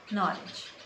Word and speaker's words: knowledge: if this particular sound is particularly that it is silent why not be included it in that spelling like knowledge now please rest easy in and if it's